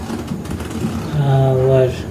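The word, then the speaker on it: hour: तो इसका उच्चारण होता है आवर। इसका स्टार्टिंग स्वर से हो रहा है, तो इसके साथ हम एन का यूज करते हैं, एन आवर।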